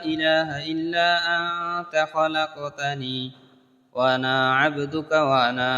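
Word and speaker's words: خلق: এখানে অনেকগুলো, যে এখানেও আনতা লেখছে, খালাক, খালাক তানি লেখছে, খালাক হবে না, খলাক তানি হবে।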